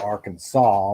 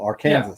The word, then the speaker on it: Arkansas: yeah yeah thanks yeah that is true how how did they come up with arkansas when it's spelled arkansas french there's no sas that equals that's all i gotta say exactly and that's why they call it arkansas outlaw guitar avatar company